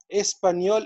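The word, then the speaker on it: espagnol: هنشوف هنا فرنسي فرنسيز، شينوا شينواز، اسبانيول اسبانيول. اوكي، الجي والان ده، الجي والان بننطقهم نيه، زي ما في اللغة العربية نونيه، فبقول اسبانيول اسبانيول.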